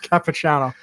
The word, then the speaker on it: Capichano: Capichano.